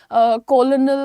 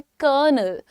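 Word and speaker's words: colonel: कोई इसको बोलता है कॉलोनल तो कोई कुछ बोलता है। लेकिन आपको मालूम है कि आर्मी की रैंक होती है कर्नल।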